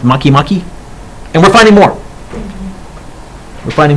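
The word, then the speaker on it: Makemake: kind of egg-shaped there's I think it's pronounced monkey monkey and we're finding more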